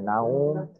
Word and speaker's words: نوم: সময় ওয়াও এর উচ্চারণটা উ এর মতো হয়, দীর্ঘ উ। না, উ, ও না, নাউম এরকম।